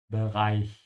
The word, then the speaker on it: Bereich: Again here the ch is after an I so make sure your mouth is open at the end when you say Bereich.